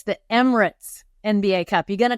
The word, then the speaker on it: Emirates: I kept thinking I was going to call it Emeritus, and I didn't want to mispronounce it. So Emirates, that's a Dubai airline, from what I understand, right?